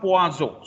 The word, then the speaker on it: poisson: भर अगर आप उसको पढ़ते जाएंगे तो ये प्रोनाउंसिएशन कभी आपके दिमाग से नहीं जाएगा. So it's poazo.